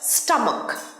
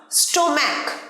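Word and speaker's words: stomach: এর পরের word স্টামাক। স্টামাক পেট, স্টামাক। স্টোম্যাক ভুল উচ্চারণ, স্টোম্যাক নয়, স্টামাক।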